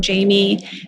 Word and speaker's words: Jhaimy: Especially now with UCLA, that's all Jamie's department, but I'm hoping to learn more about